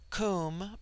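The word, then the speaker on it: Koom: immortal Spirit Vidya immortality comb pronounced like the Welsh comb denotes something of hollowness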